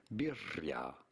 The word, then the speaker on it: birria: In Spanish, in Mexico, it would be said as birria with a double R.